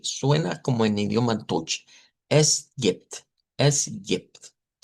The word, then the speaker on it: es gibt: Eso casi se pronuncia como está ahí, vean, no hay mucho cambio, a excepción que si nos ponemos muy específicos, esta es una E abierta y no es como la E del español, y esta es una I corta.